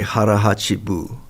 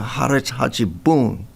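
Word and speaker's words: hara hachi bun: But it drives me nuts when they I think they say harachibu. It's not harachibu. It's a harachibon. B O N.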